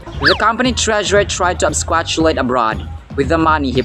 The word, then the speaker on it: absquatulate: Straight From online dictionaries this word is pronounced absquatulate absquatulate ang absquatulate mga sombreros ay verb ito